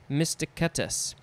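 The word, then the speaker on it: mysticetus: is balayna uh again i think the c's in these latin words are a k sound like a k sound mysticatus uh okay now we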